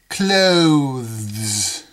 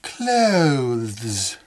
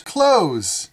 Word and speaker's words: clothes: clothes I like your clothes in American English we don't pronounce it that way we don't pronounce the th we pronounce that word just like this word close please close the door close clothes you've got nice clothes